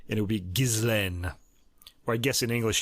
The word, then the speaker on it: Ghislaine: her name is pronounced Ghislaine. It's a French name. I've heard people on the internet mispronouncing it, wondering how it's pronounced. It's a pretty standard French name, and it would be Ghislaine.